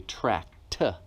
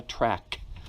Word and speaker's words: tract: That is a tract with a T at the end, not a track like a racetrack.